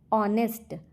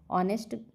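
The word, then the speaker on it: honest: ऑनेस्ट का उच्चारण vowel sound से होता है, इसलिए ए एन लगेगा। ऑनेस्ट, ऑनेस्ट का उच्चारण क्या होता है, वॉवल साउंड, इसलिए ए एन लगता है।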